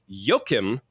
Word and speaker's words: Joachim: So we are talking about 2025's sentimental value directed by Yokim Trier, or that's how he pronounced his name in an interview recently where I'm so